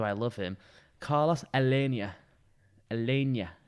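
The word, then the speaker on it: Aleñá: Alenia, I believe is how you say it, because it's got the old Spanish stuff up there.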